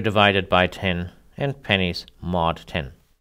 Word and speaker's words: mod: the modulus operator and we often just pronounce it as mod it yields the remainder